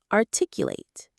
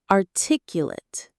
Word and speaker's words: articulate: There are 2 ways to say this word depending on how it's used. When it's an adjective describing someone, the stress is on the 2nd syllable and the end sounds like it. Articulate. When it's a verb, an action word, the stress is on the 2nd syllable and the end sounds like ate.